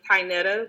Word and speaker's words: Tinetta: don't like mispronouncing people it's perfectly fine it's tinetta but everybody calls me tea okay well we're gonna